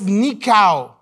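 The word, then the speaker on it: νικάω: It says nikao. Not nika like Nicaragua. No, nika.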